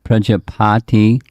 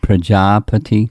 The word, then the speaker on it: Prajapati: to daksa yes i want to correct your pronunciation it's not prajapati it's prajapati thank you okay now reese